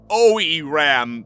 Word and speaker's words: Oiram: was controlling himself rather OE Ram that is how he told me to pronounce it was controlling himself I